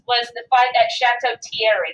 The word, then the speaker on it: Thierry: The first major engagement that involved a significant number of American forces was the fight at Chateau Thierry. That's pronounced Thierry, if you're wondering.